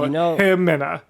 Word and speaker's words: Ximena: Hemina. How was it? Hemina. Okay. It's Ximena, but the X is an H in that dialect, so Hemina.